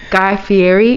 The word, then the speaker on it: Guy Fieri: that also i don't want to say his name wrong but guy fieri is that how you say it yes yes